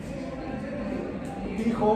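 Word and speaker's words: Tycho: Marte, que había medido tijobe estamos acá lado rojo en la historia. Esto es Newton. Newton, eh, 1686 antes del 1600. Tijo, bueno, este es Isaac Newton. Tijo, se escribe ty y ch.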